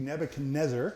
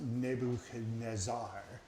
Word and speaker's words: Nebuchadnezzar: In 605 BC, Nebuchadnezzar, everybody say that with me? Nebuchadnezzar, 5 syllables. And that's probably actually pronounced Nebuchadnezzar. Nebuchadnezzar it is.